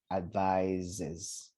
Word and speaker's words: advises: not a noun and this s is pronounced like a z to make sure that it's a verb advises right this one it's